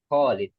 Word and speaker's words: Khalid: Yang Khalid itu kho-nya jangan lupa panjang. Khalid.